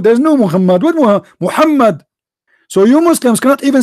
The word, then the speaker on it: Muhammad: do you say is how do you say it correctly Muhammed Mohammed Mohammed Abdullah this is his name not Mohammed what Muhammed do is Muhammad by the way his name is not Mohammed his name is Qasim